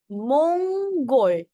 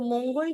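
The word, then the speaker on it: 몽골: मोंग गोल मंगोल सो मंगोल क्या हो गया मंगोलिया ओके नीचे वाला अ तो प्रोनाउंस होगा इसको भी मोगोल मत कर देना नीचे वाले अंग को प्रोनाउंस करते हैं ओके सो यू कैन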